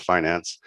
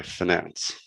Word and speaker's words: finance: a long eye and the accent on the first syllable is one of america's most precious discoveries and possessions i guess in europe they say finance i'm going to continue with finance so what kind of